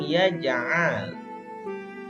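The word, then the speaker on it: يَجْعَلْ: Alam yaj'al kaidahum fi tadlil. Ainnya harus jelas ya. Jangan yaj'al. Itu hampir sama dengan pengucapan huruf hamzah, yaj'al. Tapi kalian harus benar-benar mengucapkan huruf ain.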